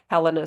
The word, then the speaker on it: Helena: marks she wasn't even Helena or Helena however you want to pronounce it I say Helena so then it sounds like Lenny flows on from yeah but she